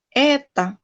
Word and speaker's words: это: Jadi dibacanya A. Menoga, eta.